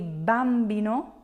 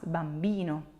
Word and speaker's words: bambino: stressing that syllable Bambino you're not gonna say Bambino so the accent is not on the first syllable but it's on the second to last Bambino the more you listen